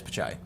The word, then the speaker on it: Pichai: Is it Pichai? I thought it was Pichai. Did I spell it wrong? Yeah, it is Pichai.